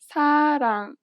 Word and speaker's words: 사랑: This letter is often represented as an R or an L, but you do not pronounce it this way. In fact, there is no equivalent sound in English for it. Listen to a word that uses this letter.